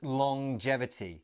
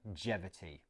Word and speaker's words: longevity: little bit strange it's longevity so we have the at the end of long as normal but then there's this J sound as well long longevity let's look at that